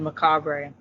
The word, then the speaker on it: Macabre: On Google, it will pronounce the name, and it said Macabre. Yeah, it is French.